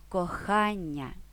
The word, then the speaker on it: кохання: завдання зібрання навчання тощо лайфхак яке слово з наголошеним Ання Ви точно знаєте Так це милий приємне кожному слово кохання тож можемо орієнтуватися на це слово зафіксувавши наголос у іменниках на Аня а можемо скористатися ось